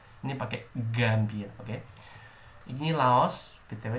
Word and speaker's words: Laos: Ini Laos, BTW cara bacanya itu Lao.